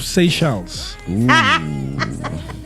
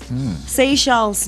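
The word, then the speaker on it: Seychelles: Say shells. Say shells.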